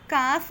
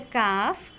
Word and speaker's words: calf: They also managed to lift the calf out of the sandy pit. How would we pronounce it? Calf. Calf. Yeah, L is silent over here.